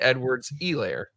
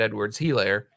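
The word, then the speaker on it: Edwards-Helaire: you don't say it Euler yeah it's Clyde Edwards a layer I've been out yeah I know I've been pronouncing it client Edwards he layer because that's what I had heard before then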